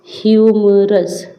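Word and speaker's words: humorous: है फिर है ह्यूमरस ये ह से पड़ जाएगा ह्यूमरस ठीक है तो ह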